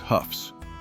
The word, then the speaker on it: Hough: Ask anyone outside of Northeast Ohio to pronounce the letters h o u g h, and they will almost always stumble over it. But, we knew exactly how to say it. We knew it was proudly pronounced Houghs.